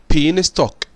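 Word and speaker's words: beanstalk: اول حاجه بين ستوك، بين ستوك معناه ساق الفاصوليا، بين ستوك. خد يا جماعه حرف اليس هنا سايلنت.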